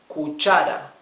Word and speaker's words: cuchara: Cuchara, 3 syllables. See how this R is not the rough sound of the R. It is not R, right? Why? Because it is in the middle of the word and it is not doubled, right?